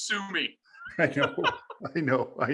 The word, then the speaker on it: Summe: welcoming the show sum how are you buddy what's going on it's going great buddy but the last name is sue me i know i know